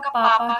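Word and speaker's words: bàba: बस बी ए बी ए वो लिखते हैं बट प्रोनाउंसिएशन उसका पापा ही होता है।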